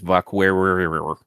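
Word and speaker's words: Vaquer: And I believe the correct pronunciation is Vakwer.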